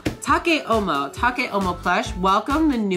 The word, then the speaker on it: Take: Take, pronounced Take, is a crazy young pup that dreams of becoming the next Decora fashion icon of Harajuku.